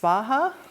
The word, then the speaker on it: Svaha: In Sanskrit, I think the Soha would be pronounced Svaha.